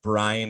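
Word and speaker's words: Bryne: um for the record I've always pronounced it Gareth bran I'm sure Gareth Brinn is probably more accurate I'm happy to go with either um but gare one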